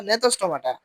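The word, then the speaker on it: Gnathostomata: হয়েছে সাইকোস্টমাটাস্টমাটা ঠিক আছে এটা জ্ঞানমাটা কেন বলি ভাই উচ্চারণ জ্ঞানটা নাথস্টমাটা আচ্ছা সাইক্লোস্টমাটাকে দুইভাগ করা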